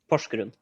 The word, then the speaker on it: Porsgrunn: Yeah, And how do you pronounce that? Porsgrunn. I'm not. Nope. I don't want to butcher that. Porsgrunn?